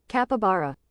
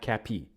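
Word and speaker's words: capybara: Capabara. Capabara. Kappa. Kappa. Not capi.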